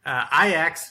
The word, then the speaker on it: Ajax: Group E, also Ajax beat AEK Athens 3-0.